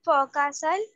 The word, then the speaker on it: forecastle: This is the pronunciation, but we are using the R also. So, but it is not there, because see, now see, I am going to teach that also.